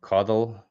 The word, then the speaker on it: coddle: Coddle has a long O and cuddle a short O.